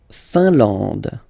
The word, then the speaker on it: Finlande: La Finlande. I-N here, nasal, un. A-N, nasal, en. And then D, final E, not pronounced.